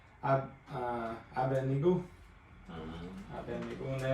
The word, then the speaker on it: Abednego: But just reading that, obviously the D comes before the end. The end. So I've been saying it wrong my whole life.